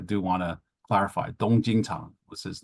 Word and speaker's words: Jing Chang: And then his name was Jing Chang, not Ching Chang, which sounds horrible in English. So, I do want to clarify, Dong Jing Chang was his name.